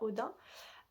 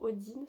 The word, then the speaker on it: Odin: faire son hôtel à Odin, ou Odine, ça dépend comment certains le prononcent.